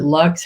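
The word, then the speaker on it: Laux: And I realized that in Dorianne, is it Lux? How you say it? I heard her say Lux. Yeah, Dorianne Lux, who's always loved her poetry.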